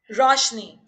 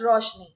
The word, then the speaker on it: Roshani: Roshni. It's spelled out with an A, just like the book Meher Roshni. Roshni. ROSHANI. Yeah. But pronunciation wise, it's just Roshni.